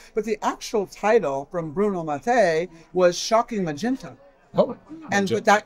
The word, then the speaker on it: Bruno Mattei: Did I pronounce it right? Bruno Mattei, yes.